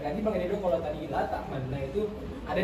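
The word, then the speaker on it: لا تأمنّا: La ta'manna. Seperti itu. Jadi membaca domah tapi tidak jelas domahnya sepertiga. La yasma'ul qaribu wa la yasma'ul ba'id.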